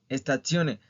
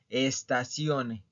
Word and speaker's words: stazione: Recuerden que no es estazione. ¿Ok? Es stazione y estazioni.